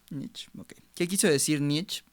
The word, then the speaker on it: Nietzsche: ¿Sí se pronuncia así? Nietzsche. Nietzsche, ok.